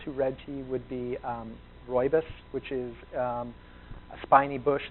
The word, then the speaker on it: rooibos: And it looks like rooibos, R-O-O-I-B-O-S. The spelling, it's pronounced rooibos.